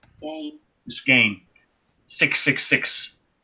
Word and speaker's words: Gein: Geen, or Gein, how do you pronounce that? Gein. Gain.